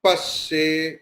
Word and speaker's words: पश्ये: Bhadram pasye, you have to give stress on pa.